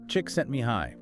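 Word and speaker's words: Csikszentmihalyi: But it is pronounced chick sent me high.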